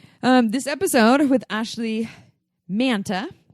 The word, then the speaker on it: Manta: episode of with Ashleigh manta I said it right mantle like Santa this is what she